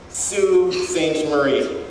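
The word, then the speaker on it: Sault Ste. Marie: to tell them that that name is pronounced sue st. Marie like um like s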